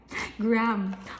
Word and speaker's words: graham: is the graham the grah ham crackers so natataw siya sa grah ham crackers buse it's not grah ham It's gr gram Wala siyang h guys